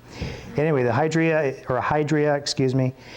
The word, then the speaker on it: hydria: called a hydra and for years i call it hydria but hydra is the proper pronunciation according to the big fat dictionary i bought from nell